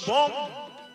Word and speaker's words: বং: বম এতস্মৈ, সংস্কৃতে অক্ষরের ডাইনে অনুস্বর্গ থাকলে সেটা ম উচ্চারণ হবে, যদি মাঝখানে থাকে শব্দের তাহলে ম উচ্চারণ হবে না, শেষে থাকলে হবে। লেখা আছে বং, উচ্চারণ হবে বম।